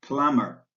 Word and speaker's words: plumber: example remember to drop the be in plumber the L in folk